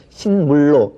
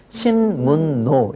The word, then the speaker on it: 신문로: 같은 지명인데 신문으로는 신문호 니은과 리을이 연결되니까 니은을 리을로 바꿔야 돼. 그래서 신물로 이렇게 발음합니까? 자, 이거는 아무도 그렇게 발음을 하지 않죠. 어떻게 발음하느냐? 신문노 그렇게 발음을 해요.